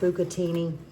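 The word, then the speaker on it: bucatini: And I believe it's pronounced bukatini.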